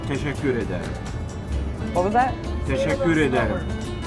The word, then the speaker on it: teşekkür ederim: In Turkish we say teşekkür ederim.